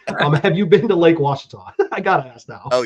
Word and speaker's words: Ouachita: Lake Ouachita. I love it. That's fantastic. Have you been to Lake Ouachita?